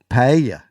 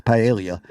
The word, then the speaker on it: paella: ended up with, here, I'm going to practice, paella. Damn, paella. Oh, you almost had it. I have the worst time not pronouncing Paella?